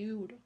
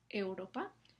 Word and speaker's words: euro: Esto no es como se pronuncia la palabra, es un diptongo. Entonces, la e y la semivocal u están juntas en la misma sílaba y la u es tiene una duración muy corta, euro, ¿no?